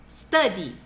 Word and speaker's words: study: Ó a pronúncia, gente. T, t, t. Study.